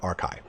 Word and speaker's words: Archai: the lore morast archai that's a r CI c h AI c h AI sorry that could be a different pronunciation but I'm going with arai now the morast harbingers